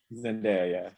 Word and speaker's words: Zendaya: winning right now is i always say her name wrong zendaya is that how you say it zendaya yeah yeah yeah i think la roach is